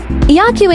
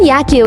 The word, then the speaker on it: Yakyu: The name Yakyu is pronounced the same as baseball in Japanese, which has led to the shrine becoming a popular pilgrimage site for baseball fans.